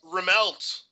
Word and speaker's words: Remelt: to pronounce his last it's pronounced remelt oh really just remelt I was gonna go for some other pronunciation all right tough but